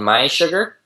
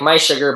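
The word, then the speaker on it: mySugr: um a company called my sugar my sugar that's spelled m s u r so it's like my sugar but there's no second there's no a in Sugar oh I see okay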